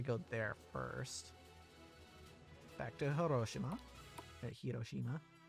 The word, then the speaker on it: Hiroshima: there first back to hiroshima hiroshima i think hiroshima is the uh english pronunciation but hiroshima is definitely how it's pronounced in japanese that's how i uh pronounced